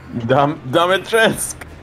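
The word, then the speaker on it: Dimitrescu: You will learn what it means to insult House Dominatresk. There, she said it. That's how you say it.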